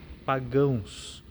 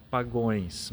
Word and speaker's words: pagãos: Cuidemos nessa leitura com as seguintes palavras: pagãos. Por vezes, na pressa ou no nervosismo, a gente costuma ouvir alguém pronunciar pagões, mas pagões não existe. A palavra, então, pagãos.